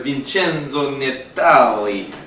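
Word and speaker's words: Vincenzo Natali: from science fiction filmmaker Vincenzo netale that's how you say his name I think it is I just like to sing Italian names like that and this is just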